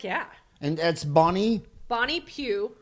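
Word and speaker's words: Pugh: one show heck yeah and that's bonnie bonnie pew p ugh p ugh and if the H is silent she'd be a pug dog bonnie bonnie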